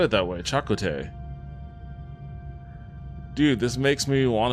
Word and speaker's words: Chakotay: It's pronounced Chakotay? Isn't that what I said? I thought I said it that way. Chakotay.